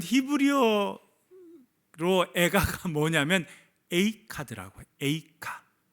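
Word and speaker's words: איכה: 에이카. 히브리어는 에이카고 우리나라 말로는 애가고, 발음이 되게 비슷하죠.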